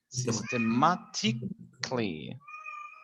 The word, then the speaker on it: systematically: systematic system systematically okay remember we did not pronounce c-a-l no pronunciation systematically okay perfect so